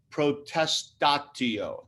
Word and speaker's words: protestatio: that i'm circling filed a former a formal protest tattio that would be the latin p r o